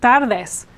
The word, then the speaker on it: tardes: Now, we have a trilled R here because it ends the syllable, and then the D here is sort of like, this is sort of like the word they with an S at the end, this.